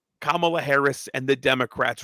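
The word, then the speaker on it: Kamala: have a press conference with kamla Harris that's kamla um and and and Harris walls banners all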